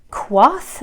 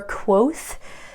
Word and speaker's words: quoth: brain next one is quoth or quoth i've heard it pronounced both ways and i think it's one of those one of those things where it doesn't particularly matter it just means said